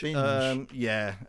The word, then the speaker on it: Binge: Do we pronounce Ronald Binge? Binge.